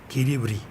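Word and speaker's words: Quiribrí: que los indígenas llamaban Kiribrí, con acento en la última, en la cual está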